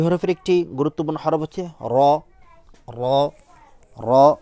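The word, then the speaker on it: ر: আরবি হরফের একটি গুরুত্বপূর্ণ হরফ হচ্ছে র র র র বলার সময় আমরা দেখতে আপনারা স্ক্রিনে দেখতে পাচ্ছেন র হরফটি র হরফটি বলার সময় আমরা র র র হরফটি হচ্ছে এভাবে করি আমরা র র হরফটি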